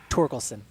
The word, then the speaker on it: Torkelson: Tolkien s'en get getting that right on the pronunciation trick we're getting close okay torkelson torkelson very nice and then Austin Martin out